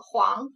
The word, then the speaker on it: 皇: 第二个字读作皇，皇帝的皇也是皇后的皇。